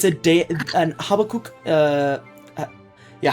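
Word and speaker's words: Habbakuk: Uh it's a an Habakuk. Uh yeah, Habokuk. Yeah, that's how you pronounce it.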